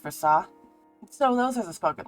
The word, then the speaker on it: Versace: I really struggled with whether or not I should have the population pronounce the second S in Versace. Now that I'm thinking about it, it probably should be pronounced Versace.